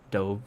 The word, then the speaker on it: Dove: Dove, that's how you say it. It's a homograph. It's spelled the same, but it doesn't sound the same.